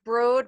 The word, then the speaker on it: Broad: are going to be using the broad it's pronounced broad but it's spelled broad uh so just so